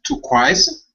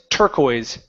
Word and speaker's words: turquoise: How do I pronounce turquoise? It's turquoise. Turquoise. Turquoise.